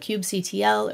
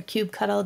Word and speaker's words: kubectl: You can also use command line tools like kubectl or kubectl, depending on how you like to pronounce it, which wrap the Kubernetes API.